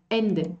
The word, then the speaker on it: Ende: Lo mismo sucedería aquí. Den was am Ende bleibt. Ende. Aquí yo tengo que empezar de nuevo. Ende. Y no decir den was am Ende. Am Ende. No puedo juntar M con E. En la pronunciación alemana no puedo hacer eso.